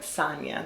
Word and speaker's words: Sanya: Jamaican people call me Sanya. But when I first came to the States, we were like Sanya. And I was like, you know what? Sanya. The soft A sounds better when Americans say it. So I prefer Sanya, but Sanya is not wrong.